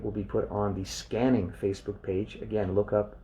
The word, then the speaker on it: SQANNING: yourself and that's it that's scanning it's spelled sqa NN i n g scanning is a relaxation